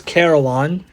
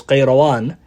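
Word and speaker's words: القيروان: So this city of Qayrawan, and sometimes it's spelled in English as Karawan, right, with a K, but it's Qayrawan. Its origin, the epistemology or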